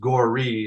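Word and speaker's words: Gorre: it's it's spelled g r re but it's gory is how you pronounce it and defeated you know he spells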